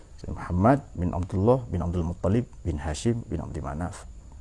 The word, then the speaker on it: Muttalib: Ada yang nyebut Muttalib, ada yang nyebut Muntalib. Tapi yang lazim Muttalib. Saya membaca Muttalib itu dikritik itu. Kurang bacaannya yang mengkritik. Jadi Muttalib, Muntalib, Muttalib. Tapi yang lazim dipakai adalah Muttalib ya.